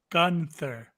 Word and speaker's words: Gunther: who gunter is no it's pronounced gunter yes gunter no gunter gunther we'll get we'll get